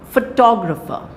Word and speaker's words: photograph: but you are a photographer who took this Photograph and photographic very important for you to know this okay so photograph the stress is on the first syllable but when we have